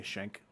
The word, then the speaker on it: Schenck: shank um and we're not going to call you skank we're going to say shank uh the only person